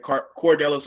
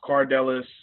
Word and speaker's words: Cardelis: They always said Cordelis, and it was Cardelis.